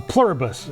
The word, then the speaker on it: Pluribus: A plurabus. It's an Apple TV show. Like like the like the word from the coin. E pluribus unum. That's how it's spelled.